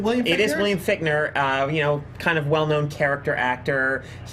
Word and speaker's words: Fichtner: It is William Fichtner.